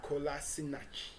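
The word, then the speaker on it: Kolašinac: million euro signing of not left back sidney kolasinac that's how you pronounce that and yes did that business as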